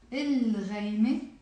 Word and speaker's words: الغيمة: الغيمة, the cloud. So I am pronouncing the lam here.